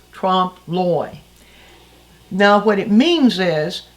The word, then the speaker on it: trompe l'oeil: French term uh and it's pron here's the word right here spelled like this pronounce Trump ly now what it means